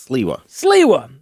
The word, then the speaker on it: Sliwa: Sliwa.